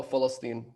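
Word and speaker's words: فلسطين: the name of judea to palestine or as palestinians pronounce it oh philistine which is very reminiscent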